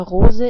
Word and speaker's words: Rose: The color of a rose is red. The word for rose is the same in German, but is just pronounced differently. In German we pronounce it like Rose, and Rose is a female noun in German.